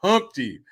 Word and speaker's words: Humpty: me introduce myself oh my name is Humpty pronounced with the empty yo ladies how I